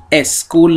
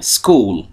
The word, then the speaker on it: school: دقت کنید تلفظش اسکول نیستا، باید بگیم school.